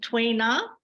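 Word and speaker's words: Tui Na: you might have to help me with the pronunciation twaina that's correct muscle tendon changing Qigong and so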